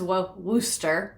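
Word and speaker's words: Worcester: Worchester is pronounced Worooster.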